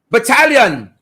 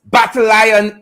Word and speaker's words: battalion: you don't know properly the word battalion isn't pronounced battle iron idiot well am i working